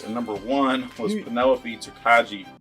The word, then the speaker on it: Tokaji: is second place and number one was Penelope tokaji it's pronounced toai task finish what you do bastard what you